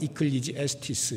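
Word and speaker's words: Ecclesiastes: 이 에클레시아스테스에 따라서 이것을 영어로 발음을 하면 이클리지에스티스 이렇게 되는 거예요.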